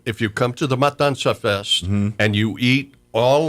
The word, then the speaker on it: Matanza: I would say is it's spelled M A T A N Z A Matansa for us gringo us gringo we want to put that N before the T and that's not it's m a t I did it